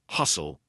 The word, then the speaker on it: hustle: Hustle, S-T-L-E. Lots of times words with S-T-L-E will have a silent T.